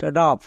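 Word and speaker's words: rough: তাই এটা হলো আ নেক্সট রাফ এখানেও শব্দের শেষে জি এইচ আছে জি এইচ থাকার জন্য কি হবে ফ হবে হবে এবং ও ইউ এর পরে জি এইচ আছে মানে দুটো রুলসই হচ্ছে তাই এটা হলো রাফ নেক্সট এনাফ এখানেও শব্দের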